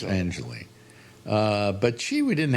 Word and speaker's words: Angeli: I know Pier Angelie pronounced Angelie.